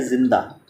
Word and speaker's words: ज़िंदा: अरबी फारसी के कुछ शब्द जो हिंदी में आए हैं, क, ख, ग, ज, फ, इनके नीचे नुक्ता लगाकर उनका उच्चारण बदल जाता है। तो जिंदा नहीं कहेंगे, जिंदा।